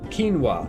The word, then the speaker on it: quinoa: instinct is to pronounce it as it is phonetically written. What's the other stupid one? What's that food? Quinoa.